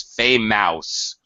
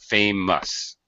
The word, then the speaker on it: famous: how many times I've heard this pronounces fame mouse students often think that because oh there's two vowels it must be important not true not at all um nope it gets pronounced as the schwa sound famous which you did very